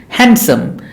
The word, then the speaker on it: handsome: the D is silent handsome this the D is silent handsome handkerchief sandwich Wednesday The